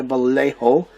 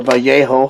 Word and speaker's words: Vallejo: some gloss varnish by Vallejo, or Vallejo, however you want to pronounce it. I think here in California we call it Vallejo. There's a town not too far from me called that.